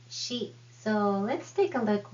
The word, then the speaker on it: し: She is not C, it is she.